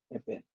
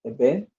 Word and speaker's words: event: In this word, the stress is on the second syllable event. So event, effort.